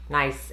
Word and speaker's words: Nice: It's spelled nice, but I think it's Nice.